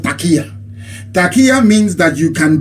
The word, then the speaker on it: taqiyya: There is something in Islam called taqiyya.